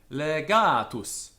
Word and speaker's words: legatus: as well poor where in words of three or more syllables the stress is on the penultimate syllable if it is heavy legatus this is a heavy syllable here alright this is light